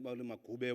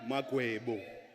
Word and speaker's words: Magwebo: The member, Honorable Manopole, is mispronouncing my surname. I take offense. I am not Magube or Magabe. If she wants to know who I am Vusumzi Magwebo.